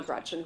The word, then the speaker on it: Gretch: named after my grandma Gretchen who I adore. It's funny though because she always said never let anyone shorten your name. Don't let people call you Gretch because it rhymes with wretch.